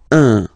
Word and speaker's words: un: but you've got to pronounce it like un. So it's what we call the nasal, so it goes in your nose, okay? Un. So if you listen to me, you don't hear any N, okay?